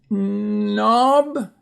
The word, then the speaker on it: knob: Next is a knob.